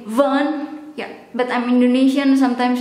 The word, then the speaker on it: van: from viticu van dorte the v in fun sometimes i pronounce it as fun but and that should be fun yeah but i'm indonesian